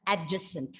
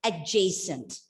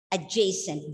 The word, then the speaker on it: adjacent: pronouncing this word as adjacent right but as for the british pronunciation the the word has to be pronounced adjacent adjacent d is silent and you bring that diphthong a of the j adjacent and what do